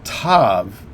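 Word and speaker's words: תו: notice that type there the tav is always pronounced like t all right and then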